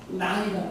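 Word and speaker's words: ναί: 이 예라고 번역된 그리스 말이 나이라는 말이에요. 나이. 영어 스펠링을 하면 알파벳으로 하면 NAI로 쓰면 거의 맞아요.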